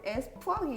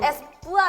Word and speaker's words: Espoir: ra cách phát âm] Nhãn hiệu đó tên là Espong phải không? [(Bạn đang hạ thấp tôi phải không?)] Cách phát âm của Hyo-rin được nghe như vậy. Bạn có thể nói lại không? Espoir.